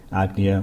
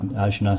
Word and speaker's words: Ajna: We're going to look at damage to the third eye, Agnya or Ajna, some people pronounce it.